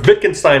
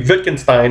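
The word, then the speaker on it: Wittgenstein: dayart is saying what Vicken Stein is saying cuz I think black blackborne refers to Vicken Stein it's spelled with a W but it's pronounced with a V is saying is that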